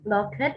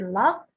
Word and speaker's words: locked: your pronunciation for example when you say lockheed it should be locked concern is a big